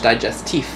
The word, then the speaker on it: digestif: so you know digestive it's not like your digestive system is spelled out like D it is with a F it's French digestif mm-hmm basically the fridge